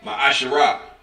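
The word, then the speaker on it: מעשר: verse 8 through 10 means 10th in Hebrew and it's pronounced my asherah 10 of every penny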